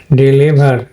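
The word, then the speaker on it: deliver: তাহলে এটা হবে এই ডেলিভার। তো আরটা ব্রিটিশরা এটা উচ্চারণ করে না, যার কারণে এটা এই আর ভিতরে আরটা ধরে নিতে হবে, এটা ছোট করে আর দেওয়া আছে, এটা হলো ডেলিভার।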